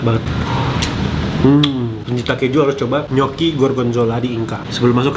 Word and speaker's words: gnocchi: Tulisannya gnocchi, tapi bacanya gnocchi.